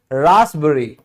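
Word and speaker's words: raspberry: फिर भी P silent होता है। जैसे रासबरी रासबरी। यहां पे एस पहले आ गया।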